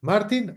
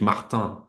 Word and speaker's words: Martin: Bueno, como soy catalán, de hecho es Martí, y luego vivo en Francia desde hace unos 50 años, desde que me fui a la universidad ahí, o sea que es Martin, más bien, ¿no?